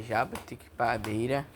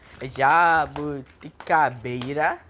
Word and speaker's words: jabuticabeira: Jabutiquipabeira, eu acho, Jabutiquipabeira. Não, tô pronunciando errado. Jabuticabeira.